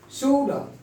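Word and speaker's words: should: हम एल को साइलेंट हो जाए। फोक, शूड, शूड, इसको नहीं बोलेंगे, शूड।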